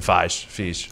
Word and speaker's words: Feige: It's spelled like beige.